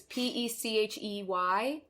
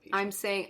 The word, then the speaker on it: Pechey: I might be saying it wrong. It's Pechey. Where'd you go with Peachy?